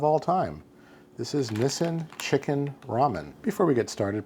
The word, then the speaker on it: Chikin: typo in the intro this is spelled c i k i n officially which is of course a phonetic spelling of chicken and this Nissen chicken ramen was the first